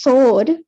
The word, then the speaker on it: sword: for this this is sword because the w you don't you you don't pronounce the w but in this letter